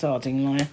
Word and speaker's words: Ardingly: in arding Lai and although it says ardingly it's pronounced Arduino I did I did